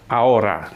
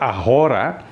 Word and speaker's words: ahora: sekarang itu sebelumnya yaitu Aura ya sekarang itu Aura ya A Aur ingat waktu itu dijelaskan Jangan dibaca ahora tapi Aur kenapa ha itu dalam bahasa Spanyol tidak diucapkan Ya mute jadi tidak diucapkan